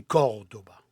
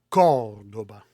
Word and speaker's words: Córdoba: En français, on prononce Cordoue. Moi, j'aime pas ça dire Cordoue. C'est Cordoba. Et on met l'accent sur le premier O. Cordoba.